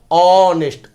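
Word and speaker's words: honest: ही इज ऑनेस्ट, ऑनेस्ट अ से उच्चारण शुरू हुआ है ना, तो एन लगेगा, ही इज एन ऑनेस्ट मैन।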